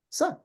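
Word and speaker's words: س: Okay, so the difference between the so this one is pronounced tha, whereas this one is pronounced sa, as in English, right?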